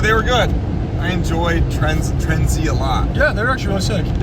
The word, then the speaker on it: TRENDZ: Yeah, found out it's not Trendz. It's Trendz.